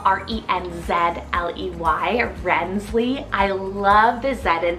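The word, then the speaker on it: Renzley: charm and tenderness I have rensely spell r-e-n-z-l-e-y rensley I love the ZET in there personally that's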